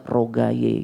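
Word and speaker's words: Ruqayyah: satu putri Nabi ya cuma nama ini kalau udah sampai Indonesia pelafalannya udah beda biasanya dengan lidahnya orang Indonesia nggak ruqyah lagi biasanya rogaye gitu ya biasanya begitu ya itu terambil dari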